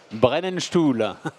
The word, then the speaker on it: Brennenstuhl: Christian, vous êtes responsable grand compte d'une société au nom imprononçable que je vais vous laisser prononcer. Brennenstuhl.